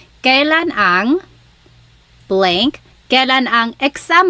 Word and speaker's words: kailan: You might hear some people say kailan. Sounds like an E, but it's technically spelled with an AI. Kailan ang blank.